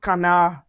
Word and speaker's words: canard: We also have canard.